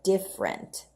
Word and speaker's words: different: it spelled different but when we pronounce it we usually drop this EES we just say different different is different on